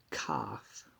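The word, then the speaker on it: כ: we have the letter cough which is the picture of a palm now this dot means that we pronounce it with a as in kite and without the dot it's uh it's a ch and this is uh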